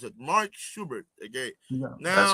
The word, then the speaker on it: Schubert: How do you pronounce it? Mark Schubert.